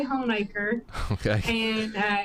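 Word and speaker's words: Honaker: And then I'm from Hornacre which is in Russell County and that's another one that people pronounce wrong all the time. They usually say Hiker but we say Hornacre.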